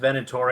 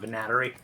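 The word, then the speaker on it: Venatori: all right all right are we sure it's pronounced venator and not vanat yeah they say it out loud in the game is it okay if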